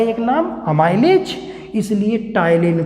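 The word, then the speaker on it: ptyalin: और ये जो टाइलिन एंजाइम है, टाइलिन में बेटा पी साइलेंट है, ये जो टाइलिन एंजाइम है, टाइलिन एंजाइम ये कार्बोहाइड्रेट पे अटैक करता है।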